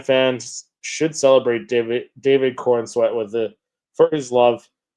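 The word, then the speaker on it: Corenswet: David uh David Corweat is how you pronounce it. I think yeah, his last name. Yeah. Um, David Corweat badly wants to be a Jedi in Star Wars.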